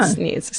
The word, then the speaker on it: Sneads: If they say it's Sneds, I'm going to be fucking pissed off because it's spelled Sneed. Because there's 7 E's. It's Sneads. That's Sneeds. Yeah. Sneeds. 100%.